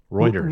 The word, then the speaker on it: Reuters: wrong routers are routers is it routers Roy Reuters Reuters so it's me Rogers Roy Reuters on